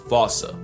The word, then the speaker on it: fossa: But if you follow the Attenborough rule, Sir David would have had you saying Fossa.